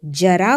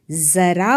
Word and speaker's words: ज़रा: अगर ये नुक्ता नहीं होता हम इसे जरा बोलते, लेकिन नुक्ता लगने के बाद हम इसे जरा बोल रहे हैं। सो it makes a pronunciation difference.